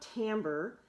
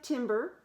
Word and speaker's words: timbre: Now, I think you noticed in the video, it talked about timbre, and it briefly had the word up there. And I want you to know that this looks like timbre, but we pronounce it timbre.